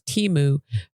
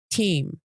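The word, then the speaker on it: Temu: Super Bowl ads and the intended pronunciation is timu rather than sounding like team what that's Did you didn't you hear it in the Super Bowl ad.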